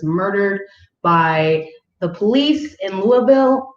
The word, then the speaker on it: Louisville: by the police in louisville louisville louisville louisville because that's how they say it there that was kentucky right